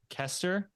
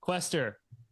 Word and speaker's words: Quester: because I get Corinne Kester is your last name right Lester questor just how it's spelled how it sounds and it sounds gonna